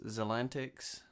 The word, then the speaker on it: Xantic: new channel name is xantic so the x is pronounced like a zed I don't know English